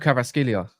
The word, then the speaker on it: Kvaratskhelia: It's called Kvaratskhelia.